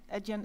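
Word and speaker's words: Adyen: Eden is spelled A D Yen and if you Google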